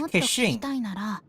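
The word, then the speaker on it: Keqing: So I likened it to the sound a cash register makes whenever this cat waifu takes the field of ka-ching!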